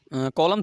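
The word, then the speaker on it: column: मतलब ने अपने गीत कॉलम शब्द में कौन सा अक्षर साइलेंट है यूनिकॉर्न फाल्ट है तो कॉलम में देखिए स्कूलों में हमारा अपना एन जो आंसर इसका एन यानि कि कॉलम तो कॉल मत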